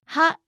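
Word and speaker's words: は: characters with originate pronunciations ha is pronounced wa when it's used as the topic marking particle he is pronounced when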